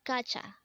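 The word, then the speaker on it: 가자: word is kacha again this is pronounced as gacha and this is used to say let's go in an informal manner again kacha means let's go next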